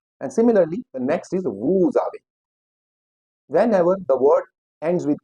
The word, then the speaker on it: vous avez: With vous avez, here ez is pronounced as a, vous avez.